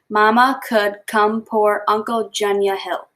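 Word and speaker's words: Mamungkukumpurangkuntjunya Hill: The city is pronounced Mama Could Come Pour Uncle Junya Hill.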